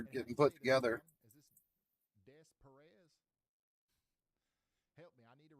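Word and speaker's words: Des Peres: Depair?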